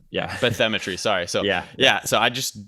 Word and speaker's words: bathymetry: Cause I didn't read this bathymetry, that's how you pronounce it. It's like bathymetry, like beat with bathymetry.